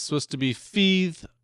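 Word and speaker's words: Fathe: It's uh the title is spelled F A T H E and it's supposed to be Fe pronounced like breathe.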